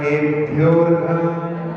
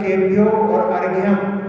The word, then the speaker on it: केभ्योर्घम: ओम ह्रीं भगवतो गर्भ जन्म तप ज्ञान निर्वाण पंच कल्याण केभ्योर्घम। हाँ, केभ्योर्घम। हाँ, यदि आप बोलोगे केभ्यो और अर्घ्यम तो वो अशुद्ध हो जाएगा, इसमें आकार लोप हुआ है।